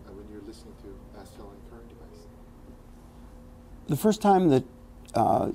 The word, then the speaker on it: Astell&Kern: about the A&K device, let's say it as Astell&Kern. Astell&Kern. I didn't want to mispronounce it, and all of a sudden I went Astral. No, I started to go Astral. I started to say Astral, and then so I said A&K.